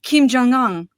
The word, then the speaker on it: Kim Jong-un: Speaking about Asia, I was today a Russian uh dictator said to uh Kim Jong-un.